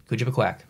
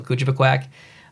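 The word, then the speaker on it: Kouchibouguac: But it's pronounced, even New Brunswickers pronounce it a little bit differently. So I'll tell you how I pronounce it. And maybe even that would be wrong, but I say Kujibikwak. That's how I say it.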